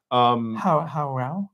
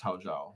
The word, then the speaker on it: Hao Zhao: How Rao? Yeah, well, they apparently pronounced Hao Zhao. Hao Zhao.